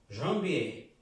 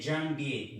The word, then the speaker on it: janvier: Janvier. No se dice janvier, no. Es un sonido nasal, como on.